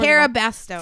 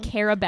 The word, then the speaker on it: Cara Bastone: Cara Bastone. Fuck. I had Cara, a feeling that was in my head. I just didn't want to say it and you get said it wrong. Cara Bastone.